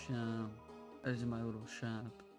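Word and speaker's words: Seam: The name's Shawn, pronounced Shawn.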